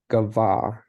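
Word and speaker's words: גָּבַהּ: a closed syllable and so the accent is going to go normally over the last syllable Gava Gava is to be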